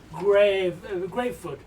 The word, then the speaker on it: Gravefoot: Greyfoot or Greatfoot? Gravefoot. Gravefoot. Yeah, we used Like to be one foot in the grave.